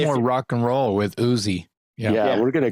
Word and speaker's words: Ousey: so you've got Chris he pronounced his last name Uzi is that what you said yeah Chris usion vocals Nigel on drums it's spelled o-u-s-e-y whether it's housie but I I call it Chris Uzi anyway so Chris